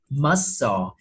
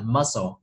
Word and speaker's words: muscle: Nhưng mà đối với cái danh từ mình sẽ đọc là sờ, chứ không có cờ trong đó, mình gọi là muscle, được không ạ?